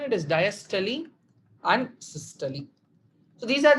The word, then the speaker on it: diastole: I've seen people pronouncing it as systole, diastole. It is also fine. But to be more specific on pronunciation, it is diastole and systole.